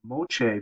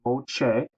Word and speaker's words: Moche: at the artwork of the mooch people that's pronounced Mo uh and look at some